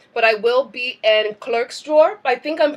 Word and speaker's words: Klerksdorp: We're waiting on a few other things to flow through, but I will be in Klerksdorp. I think I'm pronouncing that correctly. Is that right? Klerksdorp? Clickstop, yes.